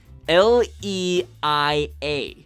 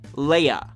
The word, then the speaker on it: Leia: seen her name spelled only one of these can be right do you see it say it with me Nerf herders l e i a Leia now listen to how I say her name Leia granted this may seem